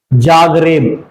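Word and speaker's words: Zagreb: इसका प्रोनाउंसिएशन नाम कैसा है? अफ्रीकन कंट्रीज के जैसा, जाग रेब।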